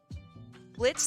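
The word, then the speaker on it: Blitzø: hell of a Boss Blitz the O is silent from uh hell of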